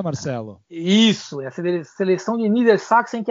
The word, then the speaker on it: Niedersachsen: É seleção de Niedersachsen. É assim que pronuncia, Marcelo? Isso, essa seleção de Niedersachsen, que é a Baixa Saxônia.